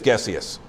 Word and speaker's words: Gessius: I think it's Gessius. I think it's a hard G.